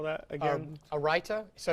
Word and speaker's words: raita: And let's say I was serving this in a restaurant, I would serve this with a raita sauce, which is just a simple combination of sour cream, yogurt, and cucumbers.